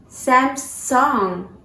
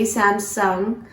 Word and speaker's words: Samsung: Samsung. No, this was a wrong pronunciation actually. Samsung, which you guys used to pronounce. This is not Samsung. You have to pronounce this word as Samsung.